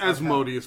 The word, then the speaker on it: Asmodeus: It's Asmodeus, man. I know it technically can pronounce it either way, but he's not fucking Mozart.